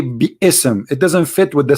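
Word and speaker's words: بسم: say you see here you don't say bsm no more here they say bism so it's not an error scribe it's an error in a pronunciation are you getting my point because they are not saying when they recite the quran they don't say be ism and it's written wrong no they they recited bism and i will tell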